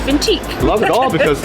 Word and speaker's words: Vintij: So I decided to go with the pronunciation and spelling of vintage in Italian, which is vintique.